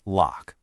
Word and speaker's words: LOQ: And just so we're all on the same page, that's pronounced LOQ.